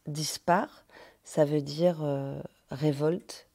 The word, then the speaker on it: Dispac'h: désordonné en breton et 10 packs qu'on prononce dispard ça veut dire révolte